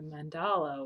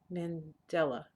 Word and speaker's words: Mandela: Ghandi or where a mandala or a mandala sorry goodness gracious how do you say his name Mandela sorry I meant Li no it's